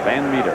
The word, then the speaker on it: Van Meter: Jason Van Meter is the correct pronunciation. Even though it's spelled that way, it is pronounced Meter, Van Meter.